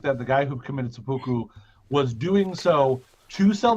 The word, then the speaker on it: seppuku: That it's pronounced seppuku.